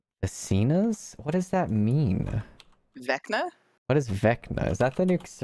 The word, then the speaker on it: Vecna: Legitimately, the only reason I know his name is pronounced Vecna is because I watch a lot of like Dungeons and Dragons streams. Oh. Otherwise, I would have been like Vesna.